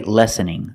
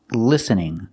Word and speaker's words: listening: cannot say lessening lessening the word is pronounced listening listening we have the letter I making a short I sound like this is correct pronunciation l l listening I cannot say lessening I cannot use the short sound for the first syllable I have to use